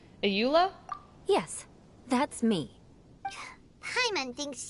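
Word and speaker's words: Eula: So you must be, is it pronounced, Ayula?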